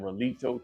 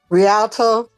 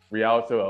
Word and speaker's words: Rialto: So, shout out Dolores from I don't know how to pronounce that. Relito, California. Rialto. Rialto.